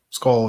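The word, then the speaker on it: Skoll: Skull, yep.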